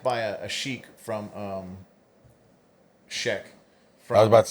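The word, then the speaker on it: Sheikh: You say it right, I say it wrong. I say she Yeah, it's Sheekch is what they they how they pronounce it.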